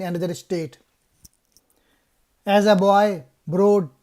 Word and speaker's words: Broad: As a boy, Broad changed the pronunciation of his last name to rhyme with road instead of rod to stop his schoolmate from teasing him.